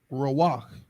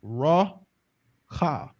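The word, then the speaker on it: רוח: letters do not connect this word is not rawak it's raw ha okay and this happens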